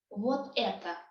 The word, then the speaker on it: вот это: So it's two words, вот and это, put together. We pronounce them as one word, basically, yes, because they make this phrase together. So it becomes вот это, like one word.